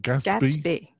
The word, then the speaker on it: Gatsby: stories guess I had you pronounce it Gatsby girls be roses be as in the Great Gatsby Gatsby and gets the